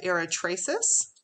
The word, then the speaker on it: Eratosthenes: looking at the table it's called the sieve of eratraces i believe that's how you say it and we don't